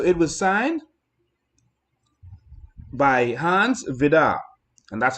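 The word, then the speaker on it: Vide: And so it was signed by Hans Vidar, and that's how you pronounce it. It's spelled V-I-D-E, but it's Hans Vidar.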